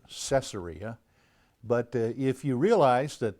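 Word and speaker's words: Caesarea: Roman uh Emperors then you understand why the pronunciation might be and is cesaria cesaria Philippi is is a very interesting place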